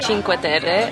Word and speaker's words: Cinque Terre: We have arrived to Cinque Terre is how you pronounce it, and we are currently in the island of Cornelia.